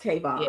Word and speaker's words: Kevon: it is it is it is pronounced Kevon yeah you know so that's that's it's not Kevin this came on thank